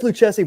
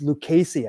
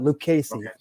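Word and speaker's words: Lucchesi: It says Luchessie, but I think it's it's Lucasy, I think, is that's that's how you pronounce that. Lucasey.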